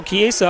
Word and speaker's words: Chiesa: So Chiesa up. I said it wrong the first time, and I think one of the parents came over and corrected me.